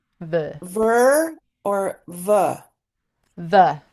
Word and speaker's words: fy: Okay, so the next word is ver, which basically means of my. It's hard to write things phonetically sometimes, but it's basically ver.